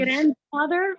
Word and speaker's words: grandfather: Yes, and also but we have grandfather. We pronounce the D with grandfather.